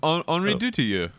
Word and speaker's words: Henri Dutilleux: since you claim to know exactly how it's pronounced? It's Henri Dutilleux. Henri Dutilleux, 97 years old, passed away this week, and